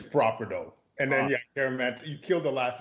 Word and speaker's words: Kyeremanteng: And then Kyeremanteng. You killed the last name though, Kyeremanteng.